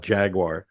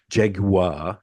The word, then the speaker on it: Jaguar: recording this we have to T talk about Jaguar oh sorry Jaguar that's how you're supposed to say yeah Jaguar